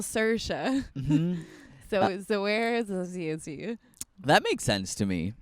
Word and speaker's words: Saoirse: name is Saoirse, and then they picked it up.